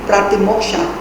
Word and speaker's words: Pratimoksha: If it is pronounced in Sanskrit, it would be Pratimoksha.